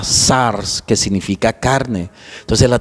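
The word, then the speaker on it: σάρξ: En griego, pues se pronuncia la palabra sars, que significa carne.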